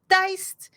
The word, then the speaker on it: Diced: This month on this channel, we are still continuing uh bi-weekly with our diced, it's pronounced like that, DICE, uh talk show hosted by our son, uh where we talk about food and TTRPGs.